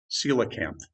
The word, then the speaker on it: coelacanth: in spelling its name but this is how it's spelled coelacamp is how that's pronounced enjoy the strange thing